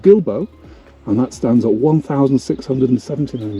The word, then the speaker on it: Gilbo: And two, it's not called Pico Gilbo, it's actually called Gilbo. Gilbo. You really pronounce the bow.